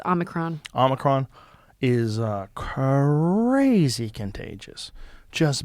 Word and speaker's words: Omicron: I keep saying Omnicron, but it's Omicron.